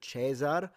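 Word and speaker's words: Caesar: the comments telling me you don't even know it's pronounced chesar and I'm like it's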